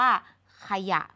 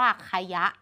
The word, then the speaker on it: ขยะ: เขียน ไม่ มี นะ แต่ เวลา อ่าน เรา อ่าน ว่า ขยะ ไม่ มี ใคร อ่าน เจ้า สิ่ง ๆ นี้ ว่า ใคร ยะ เรา ไม่ ได้ เรียก